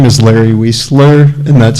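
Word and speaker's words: Wiesler: My name is Larry Wesler and that's spelled W I E S as in Sam L E R.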